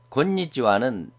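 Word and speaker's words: こんにちは: 여기는 곤니찌와는 나행 앞이기 때문에 니은으로 발음되고 곤방와는 바행 앞이기 때문에 니은, 곰, 미음, 곰. 하자 앞이기 때문에 뒤에 응은 이응으로 발음돼서 곤방와가 됩니다.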